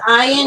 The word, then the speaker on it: Ian: He says Ian, and he gets very upset if you say it wrong.